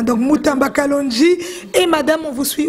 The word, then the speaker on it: Mutamba Kalonji: Voilà, Mutamba Kalonji, parce que lui il prononce en français, hein. Donc Mutamba Kalonji.